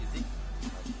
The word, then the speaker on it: ISEG: And ISEG team, pronounced ISEG, I-Z-I-K.